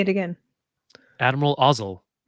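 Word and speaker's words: Ozzel: say it again Admiral ozel ozel rhymes with nozzle there you go rhes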